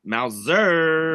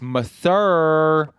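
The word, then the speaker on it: Masur: correctly dick face Richard Mouser no it's not Mouser it's meur oh Richard Mur as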